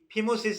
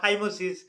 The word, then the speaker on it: ফাইমোসিস: তারা কিন্তু এই circumcision টা করিয়ে নিলে এই ফিমোসিস থেকে কিন্তু বা ফাইমোসিস বা ফিমোসিস একই উচ্চারণ।